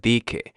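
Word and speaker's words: dizque: And the reason why so the S is red on here is because sometimes we don't pronounce the letter S and it'll sound just like DK.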